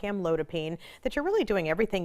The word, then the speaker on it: amlodipine: She asks, I have high blood pressure and am taking, how do you pronounce this drug? Amlodipine. Amlodipine.